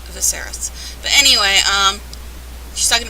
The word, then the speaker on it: Viserys: viserys viserys another person who nobody's nobody can pronounce their name it's viserys but anyway um she's talking about them going